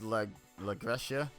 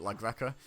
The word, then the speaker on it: LaGreca: the interviewer, Mark Henry, David LaGrecia, I think is how you actually pronounce his name. I think Santino pronounced it LaGreca.